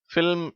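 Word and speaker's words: film: ஆனால் அடுத்து மூன்றாவது வார்த்தையும் நான்காவது வார்த்தையும் சொல்லப்படும் பொழுது L உச்சரிக்கப்படுகிறது. அதாவது மூன்றாவது வார்த்தையை எல்ம் என்று சொல்ல வேண்டும், நான்காவது வார்த்தையை ஃபில்ம் என்று சொல்ல வேண்டும்.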